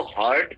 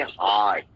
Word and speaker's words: heart: इसको हार्ट pronounce नहीं करेंगे, इसको हम कहेंगे हार्ट, थोड़ा खींच के.